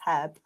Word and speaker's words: herb: I mean, it's not a silent H. It's there for a reason. It's herb.